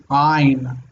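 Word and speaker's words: עין: sounds because it sounds if you pronounce it correctly it sounds weird it's not I in its line line it's in the throat ein something that Americans can't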